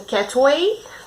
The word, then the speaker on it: Katwe: Então bora lá começar a leitura de Rainha de Catway, que ontem eu descobri que a pronúncia é Catway, tá?